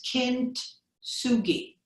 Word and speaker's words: kintsugi: repairing uh pottery is i'm not sure i'm pronouncing it right but it's kintsugi k-i-n-t s-u-g-i all right um so in closing